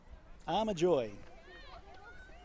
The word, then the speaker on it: Armajoy: Her surname is Armajoy. That's the correct pronunciation.